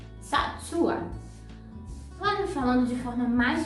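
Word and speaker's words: צעצוע: Então, é só você pronunciar de forma mais lenta. Sa, su, a. Satsua.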